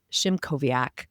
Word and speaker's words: Szymkowiak: Please join me in welcoming Jamie Shimoviaak.